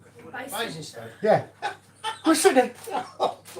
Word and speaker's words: Basingstoke: and Basin in Stoke. Basingstoke.